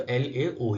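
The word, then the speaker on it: Laos: जो देश है वो लाओस है, ठीक है। लाओ एस नहीं है, एस साइलेंट रहता है, ठीक है। तो ये प्रोनाउंस जब किया जाता है तो LAO ही किया जाता है, लाओ, ठीक है।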